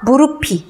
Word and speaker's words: 무릎이: 어떻게 됩니까 무릅이 가 아니고요 그대로 받침이 넘어가니까 무릎이 나 무릎이 까져 써 이렇게 말해야 맞아요 그 대부분 어때요 무릎 이라고 하죠 잘못된 발음 입니다 무릎이 무릎이 자 내 해내 슬